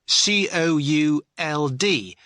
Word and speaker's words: could: could you spell it cou LD but the letter L is silent could now listen to